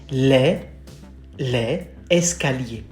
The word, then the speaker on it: les escaliers: Les escaliers. And then you do the liaison.